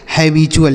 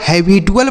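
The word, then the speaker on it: habitual: लिखा है मेरे भाई हैबचुअल लिखा है यह इसका सही उच्चारण है अगर इसे आप हैबिटुअल पढ़ेंगे तो वह गलत उच्चारण होगा इसे आपको हैबचुअल पढ़ना है ठीक है तो यहां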